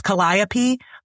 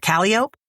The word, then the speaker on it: Calliope: say it cuz like there's Calliope, but they call it Calliope.